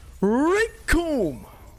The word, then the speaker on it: Rikum: Because the name's Rikum, and it rhymes with doom.